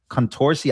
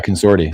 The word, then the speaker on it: Consorti: a good job at that is Contorsi. I don't know how to say his name. You guys know who I'm Yeah, Consorti.